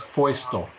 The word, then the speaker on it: Feustel: pronounce your last name if you could see it and understand it in russian it would be easy but it's pronounced feustel great yep before we